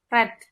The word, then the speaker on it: read: tuh perubahan tulisannya nggak ada yang beda, tapi cara bacanya seperti merah ya, red.